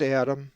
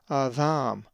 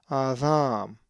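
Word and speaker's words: Ἀδάμ: If you said Adam, you were wrong. It is Adam, with the accent over the second alpha, and with the soft dheltah, Adam.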